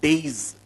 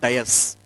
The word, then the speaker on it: dais: This platform is called days. It's not dais. It's a days.